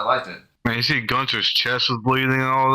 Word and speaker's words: Gunther: And it's Gunther, not Gunther. All right? It's Gunther.